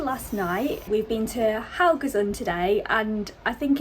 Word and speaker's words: Haugesund: But we are in the beautiful Haugesund, I believe is the correct way to say it now.